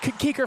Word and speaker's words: Kuker: I don't mispronounce this, but Kuker. Keeker. I did talk to the radio guy from Concordia earlier. Got the rundown on some names. That one's Keeker for sure.